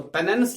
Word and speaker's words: penance: ये penance, actually it is penance, तो पेनेंस लिखा जाता है लेकिन इसकी प्रोनाउंसिएशन पेनेस है.